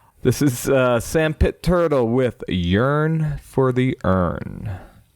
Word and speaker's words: SXNDPT TXRL: Even though you know if you look at the actual name you you get a bunch of X's in your way there. This is uh Sand Pit Turtle with Yearn for the Earn.